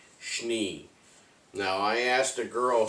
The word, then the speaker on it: Schnee: I was just being honest, but I said, I think it's supposed to sound like you're saying sneeze, but Schnee.